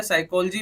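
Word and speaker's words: psychology: से पहले का जो पी है साइकोलॉजी में क्या है पी को हम अनाउंस नहीं करते हैं सिर्फ साइकोलॉजी बोलते हैं से से बोलना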